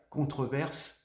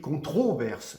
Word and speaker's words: controverse: en écrit contreverse non on a tendance à dire contreverse phonétiquement mais ça s'écrit controverse voilà vous voyez voyez tous